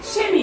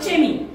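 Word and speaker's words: Chemie: start with ch but the pronunciation of this word is shemi not chemi upon chemistry like that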